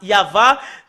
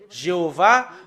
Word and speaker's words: Yahvah: sont enlevés de l'original normalement ça doit être yava que qu'on doit le prononcer bah ça a changé en y Ava Jéhova ou Yaou bah alors que ce sont des noms qui n'ont pas été prononcés par les Juifs mais ce qui a été prononcé par les Juifs c'est yava et tout ce qui